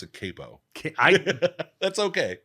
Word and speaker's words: Capo: and uh uh reveal big reveal my uh pronounce it Capo I that's okay it's all right I I